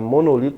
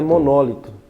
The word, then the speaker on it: monólito: e procurar a palavra monolito não vai encontrar monolit a palavra é monólito monólito a palavra é proparoxitono n mas se ele